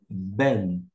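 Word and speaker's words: בן: com n n e você vai pronunciar ben ben filho vou colocar então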